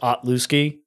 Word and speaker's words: Otlewski: It's just, it's pronounced like it's spelt, unfortunately.